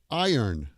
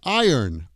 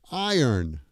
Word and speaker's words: iron: You could say, I earn money. I earn. Just say it quickly. Iron. That's how you pronounce that. It's not iron. It's I earn. Iron. That's the trick.